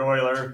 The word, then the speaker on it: Euler: Leonard Euler yes Euler and it's actually spelled like this all right it's not you Euler Leonard Oiler it was too I